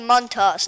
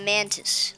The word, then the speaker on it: Montas: And yes, you pronounce his name Montas, not Mantis, like all the teachers in my class do.